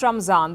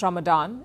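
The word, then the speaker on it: Ramzan: next story is about Raman the holy month for Muslims in India we call it Raman not Ramadan it is based on the Persian pronunciation well whatever you call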